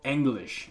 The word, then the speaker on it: Englisc: The term English, or Englisc, as it would be pronounced in Old English, goes back to a tribe of people called the Angles.